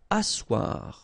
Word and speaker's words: asseoir: Asseoir. Okay, remember you've got this beautiful but then phonetically doesn't exist. Asseoir, remember double s here, it's really a strong s, really strong s.